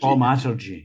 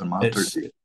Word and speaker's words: Thaumaturgy: I should have asked you beforehand how to pronounce that. Thaumaturgy. Thaumaturgy, yeah. It's Thaumaturgy.